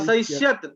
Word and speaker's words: असहिष्यत: असहिष्यत असहिष्येताम असहिष्यत असहिष्यत तहलन्त्यमस्ति किम? न हलन्तम हलन्त नास्ति। हाँ, तर्हि किम उच्चारणम? असहिष्यत हाँ, एवं उच्चारणं क्रियता।